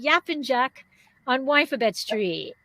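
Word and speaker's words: Yapıncak: We have Andrea Lemieux, who is going to be talking about, if I say it correctly, Yapincak on Winephabet Street, right?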